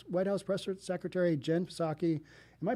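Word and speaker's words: Psaki: house press secretary jenn saki am i pronouncing that right i think i am i assume the p is kind of silent there saki punt punted on the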